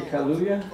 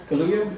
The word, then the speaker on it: Kaluuya: How do you say Kaluuya? Kaluuya?